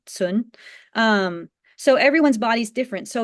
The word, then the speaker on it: Cun: It's sort of pronounced like Tsun, but in Pinyin it's spelled Cun, sun.